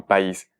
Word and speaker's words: país: En la vocal de la última sílaba, es decir, en la I, país. Pero si no le ponemos acento, ¿cómo se diría esta palabra? Esta palabra se transforma en país. Ya no se trataría de una sílaba, de una palabra con dos sílabas, sino de un monosílabo, país.